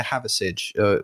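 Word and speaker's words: Hathersage: We went holiday to Haversidge, which is spelt like Hather and then Sage, Sage. All one word.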